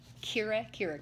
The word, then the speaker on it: Kira Kira: And she is going to share with us a special little box called Kira Kira Crate.